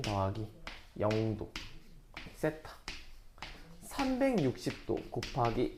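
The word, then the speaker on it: θ: 그 여기 써있는 이 골뱅이 모양은요, 세타라고 읽어요.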